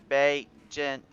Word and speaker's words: Bagent: And Callie Bagant is letting us know now that it's Bagent. It's Bagent? I think it's how you say it now. Bagent. I think I said Bagant this whole time. It's Bagent. Sorry.